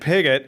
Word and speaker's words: Piguet: When Olivia is not at NAMI, she has her full-time job working in project management at Piguet, who is an interior solutions company. I pronounced it right.